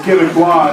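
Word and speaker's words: Québécois: Joe, it's Quebecois is the actual I know.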